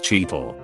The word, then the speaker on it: Cheetle: A former coworker of mine refers to the stuff as Cheetle, pronounced like Don Cheadle.